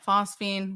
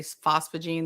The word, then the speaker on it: phosphine: Maybe I mispronounced that the first time. Yeah, phosphine. What did I say? Did I say phosphogene the first time?